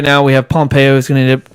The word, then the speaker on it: Pompeo: Pompeo.